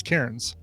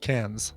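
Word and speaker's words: Cairns: r here we pronounce karen's karen i would say yeah yeah but in australia it's pronounced cans oh really okay so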